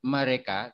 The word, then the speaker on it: mereka: The first letter E is pronounced a, like in the word after. But the second letter E is pronounced a, like in the word say. So mereka, itu mobil mereka. Mereka. Yeah, it is pronounced as in the word say in English, say or sepak bola or say.